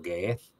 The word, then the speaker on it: Ge'ez: Si queréis un día os busquéis por ahí una misa etíope, misa por rito Ge'ez, que se escribe G-E-E-Z.